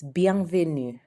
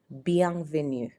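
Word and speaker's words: bienvenue: hello or welcome so to say welcome it's bang venue bang venue and hello it's Sal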